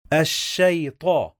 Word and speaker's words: الشيطان: الشيطان الشيطان. Okay, let's get something clear here. Sheen with shadda, it means we are gonna pronounce the letter 2 times, as we said before.